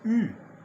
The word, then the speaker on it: eu: est la forme c'est u que je prononce comment s'écrit-il et bien il s'écrit e et U ok e et U ça se prononce u ok voilà ça c'est